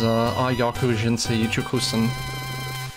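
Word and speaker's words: 野球人生一直線: I believe the pronunciation is Yakyuu Jinsei Icchokusen, which roughly translates to straight baseball life, and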